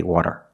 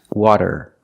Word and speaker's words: water: If you pronounce the fast D, da-da-da-da, as a rolled R, you will have an accent. People will probably understand you, but it's not correct. We cannot say water. It's water, water.